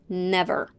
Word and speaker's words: never: and reduced then then in the word never the first e is stressed and pronounced as a short e and the second one as the schwa well actually schwablas are